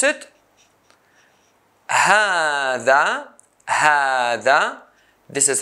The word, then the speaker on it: هذا: How I say هذا, هذا, I pronounce ها, ها, but I don't write the long sound a, هذا.